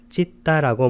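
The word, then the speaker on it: citta: 이 찢다라고 발음하는 것은 여기 C자는 쌍지읒으로 발음하고 찢다 할 때 T자가 두 개가 있는데 앞에 T자는 받침으로 쓰고 뒤에 있는 T자 하나는 쌍디귿으로 표기합니다. 그래서 찢다라는 표현이 됩니다.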